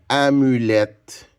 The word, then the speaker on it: amulette: Le son et qui s'écrit E-T-T-E, on le rencontre souvent dans des mots. En français, à la fin. Alors, quand vous entendez et, ben, ça veut dire que c'est E-T-T-E.